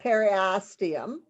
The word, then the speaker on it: periosteum: continuous with peristem of the joined bones that's periosteum eryastium yes i didn't write down that pronunciation that's okay it is formed by an